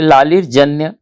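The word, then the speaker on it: লালের জন্য: अन्य उसका शीर्षक है लालर जन्य और बांगला उच्चारण होगा लालर जोनो इसका अनुवाद उत्पल बैनर्जी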